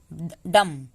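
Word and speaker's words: dumb: दूसरा कहता है कि जब भी एम के बाद बी आए तो बी साइलेंट होता है, सिर्फ एम तक हम पढ़ेंगे। कॉम, बॉम, थम, डम।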